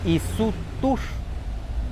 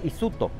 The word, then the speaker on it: isutúx: Entonces de ahí viene de la palabra Isutur, Isu por donde va, Tur agua, o sea, por donde va el agua. Como la pronunciación varía a uno que no puede hablar, entonces se quedó Isuto. O sea, ahora en muchos lugares van a escuchar Isuto, Isuto, Isuto.